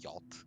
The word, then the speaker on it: yacht: it's spelled horribly and it's pronounced like in a single syllable like yacht yeah the boat yeah